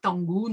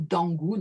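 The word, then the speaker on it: Dangun: complètement coréennes, on exhume ce héros tangoun ou dangoun hein, il y a plusieurs prononciations, qui aurait créé la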